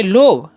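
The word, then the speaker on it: love: इसे हम क्या पढ़ेंगे लोभ लोभ नहीं पढ़ना है जी इसे क्या पढ़ेंगे हम लभ क्या पढ़ेंगे लभ ओके यानी कि ओ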